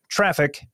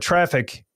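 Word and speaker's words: Traefik: automate your own certificates uh but I use traffic uh which is spelled a little bit odd T R A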